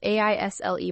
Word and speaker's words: aisle: Aisle is spelled a i s l e, but the letter s is silent.